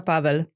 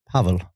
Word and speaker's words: Pavel: In Romanian, Pavel. See? Pavel. But nobody ever say it right.